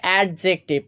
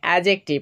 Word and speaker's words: adjective: এটা অনেকে উচ্চারণ করে এডজেক্টিভ কিন্তু এটার সঠিক উচ্চারণ হচ্ছে এডজেক্টিভ এখানে ডি কিন্তু সাইলেন্ট হয়ে যাবে প্রথমেই তোমাদেরকে উচ্চারণটা বলে